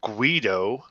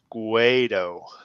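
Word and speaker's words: Guaidó: And they were supporting Juan Guaido, which is what I'm going to call it. Okay, look, someone's last name it can't be a racial slur. That's not even fair. It's not Guido, it's Guaido.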